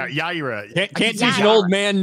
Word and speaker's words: Yaira: I keep saying Yarrow. Yeah. Is it how'd you say it? Is it Yaira? Yaira.